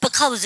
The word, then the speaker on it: because: 회화방 가시면 because 이렇게 쓰시죠. 발음하실 때도 because라고 얘기하셔야 되지만 because 이렇게 약화도 많이 해요.